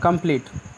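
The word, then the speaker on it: complete: TE last में है तो लास्ट वाले ई का उच्चारण नहीं होगा, और यही ई का उच्चारण होगा कंप्लीट, ठीक है।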